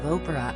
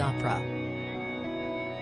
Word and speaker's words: Oprah: Latest: later on in the interview, Nina circled back to Tom's allegations about Harry's upbringing and hit out at his pronunciation of Oprah as he said opera.